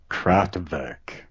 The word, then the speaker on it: Kraftwerk: Kraftwerk, or if you want to pronounce it correctly, Kraftwerk.